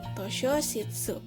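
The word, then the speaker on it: 図書室: Ditulisnya to shi yo kecil shitsu, tosho shitsu.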